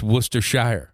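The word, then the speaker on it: Worcestershire: pronounce this it's like counties in England are called shers uhhuh and this is Worcester yeah it's Worcester Shire yeah it's it's basically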